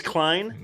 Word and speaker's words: Klein: And his name is Klein, Yep. Yep. which rhymes with swine.